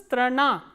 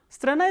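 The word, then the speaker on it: страна: Strana, strana, as you can see this a is, the last a is stressed, that is why it is pronounced as strana. Strana is country, and it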